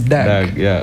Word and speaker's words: Døug: When you cross out the O, it is Døug.